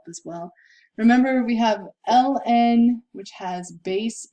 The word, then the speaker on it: ln: write it out as ln of 6 plus ln, and that's how you say it. Instead of saying the whole thing, natural log of 6, we say ln of 6, and plus ln of e to the 5t.